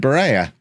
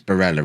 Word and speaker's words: Barella: Well, they've also signed Barella. Well. Barella. It's Barella, isn't it? Oh, the comments. That wasn't comment bait. That was genuinely me saying the name wrong.